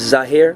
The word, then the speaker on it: Zahir: My name is Zahir Rahim. I'm from Philadelphia, Pennsylvania. Okay, what spell it for us? My name is Zahir, Z-A-H-I-R.